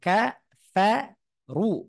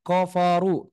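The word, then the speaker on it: كفروا: Wal ha walladzina kafaru kafaru juga tipis tuh KA Fa ru baru runya agak tebal ka Fa Ru jangan kofaru seperti itu jangan salah yang betul adalah kafaru Begitu juga dengan lafaz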